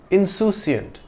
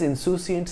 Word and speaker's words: insouciant: Insouciant comes from the French word insouciant. It has the same spelling as the English word but is pronounced differently.